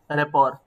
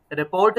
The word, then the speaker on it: rapport: 8 number पे है रेपॉर, RAPPORT। रिपोर्ट नहीं पढ़ना है, यहाँ पे टी साइलेंट है। रेपॉर बिल्डिंग, इसका जो प्रोनाउंसिएशन होगा दैट इज रेपॉर बिल्डिंग।